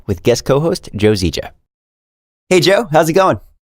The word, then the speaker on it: Zieja: My name is Joe Zieja. Yeah, it's pronounced just like zebra, except not really.